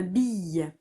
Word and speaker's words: bille: Troisième flèche rouge, une bille. Une, espace, bille. Et il y a un E muet à la fin de bille.